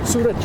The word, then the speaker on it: Suraj: Suraj, Al-Suraj, which means... How do you spell it?